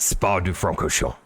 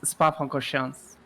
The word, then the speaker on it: Spa-Francorchamps: minutes to go at Spa-du-Francorchamps. I just have to get love that the in. pronunciation. I just have to get that in. This "do" that you'd say, it's not really in there. It's Spa-Francorchamps.